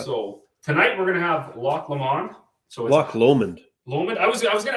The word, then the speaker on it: Loch Lomond: I think jurors actually yeah so block Lomond lock allowment yeah it is beautiful beautiful place it's a